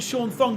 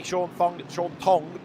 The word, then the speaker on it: Thong: Sean Thong has got to make the last stop. Don't pronounce the H, do you?